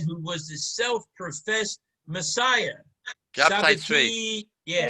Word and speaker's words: Shabtai Tzvi: Shabtai Tzvi. Yeah. Shabtai Tzvi. Yeah, I never pronounced his name right.